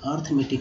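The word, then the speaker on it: arithmetic: अरिथ यहाँ ARI, तो अरी पढ़ सकते थे, आरी पढ़ सकते थे, लेकिन अर्थ में टिक क्यों पढ़ा गया ये दोस्तों, इसलिए क्योंकि यहाँ आय का उच्चारण जो है अ के रूप में हुआ है, तो अर्थमेटिक हो गया, ठीक है।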